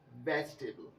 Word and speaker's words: vegetable: अब वेजिटेबल में आपको ये जो दूसरा वाला ई है ये इसको ना पढ़ा करें, जो सही वर्ड बनेगा वो होगा वेजिटेबल।